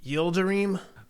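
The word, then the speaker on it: Yıldırım: name properly the uh i think it's ildeream all right you'll dream you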